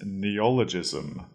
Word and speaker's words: neologism: or an official one our third word is neologism neologism that is spelled NE e o Neo l o g